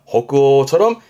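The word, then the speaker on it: 北欧: 발음은 호그어 호그오처럼 오예요.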